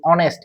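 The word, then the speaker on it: honest: অর্থাৎ থাকবে কনসোনেন্ট কিন্তু এটার উচ্চারণ হবে ভাওয়েলের মতো। যেমন আমরা একটু দেখি, এন বসবে, যেরকম অনেস্ট এর আগে এন বসবে।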